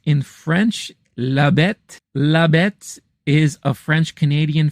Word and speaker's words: La Bête: And then I went back to check out The Beast, or as it's pronounced in French, La Bête.